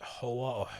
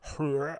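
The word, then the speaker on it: Hör: I've seen her play on that radio station in Berlin called Hoa, or Hoer, how you pronounce that name, Hoer. I think it's spelled phonetically, but it's actually pronounced with the double dot on the O.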